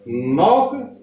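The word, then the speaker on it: knock: नॉट माने मच्छर, और नॉक ये भी साइलेंट क्योंकि एन से पहले आया है।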